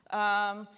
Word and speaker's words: cien: This is pronounced with your tongue between your teeth, like you have a lisp. Thien in European Spanish.